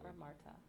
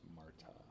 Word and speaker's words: Marta: brought so it's preseason Martha thank you it's Marta I mean that's how